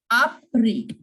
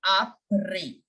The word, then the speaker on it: après: Après. Après-midi. You know, après means after. Here also I am not pronouncing the S in the end. The S is completely silent. Après. No sound of S.